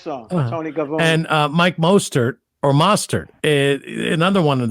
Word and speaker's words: Mostert: So I think everybody's saying it wrong. It's Mostert. Okay, so everybody says it wrong, which is fine.